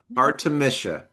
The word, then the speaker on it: Artemisia: Um, so for those of us who are just joining us, Artemisia, is that, am I pronouncing that correctly? Artemisia, like Artemisia? Okay. Artemisia.